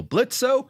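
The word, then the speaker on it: Blitzø: business this happens fellow blitz o the O is silent Jenga says you've done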